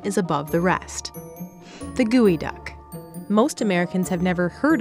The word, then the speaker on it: geoduck: out of the way it may be spelled geoduck but it's pronounced gooey duck and yes it does